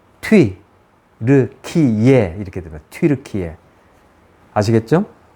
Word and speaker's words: 튀르키예: 이렇게 보다는 이렇게 먼저 앞에 나오고 그러나 정확한 발음은 트윗 르 키예 이렇게 들어요 아시겠죠 자 제가 이렇게 트루키의 지루키의